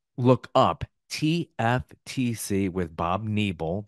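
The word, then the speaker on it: Nebel: up tftc with Bob neble that is a long e ne b l check that out wherever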